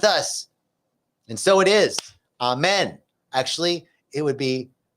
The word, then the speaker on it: amen: and so it is amen actually it would be a main it rhymes with chow mein that's how the Aramaic would pronounce it amen amen amen um